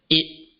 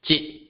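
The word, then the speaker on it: 一: First of 1 is pronounced as it, and then jit, Once again, it and jit.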